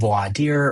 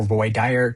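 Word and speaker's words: voir dire: And then from there we move to voy dire which can be pronounced voad dear or voy dire depending on how pretentious you feel that day.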